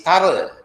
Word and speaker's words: thorough: Okay, so over here it is not true, it is thorough. Okay, the word is pronounced as thorough.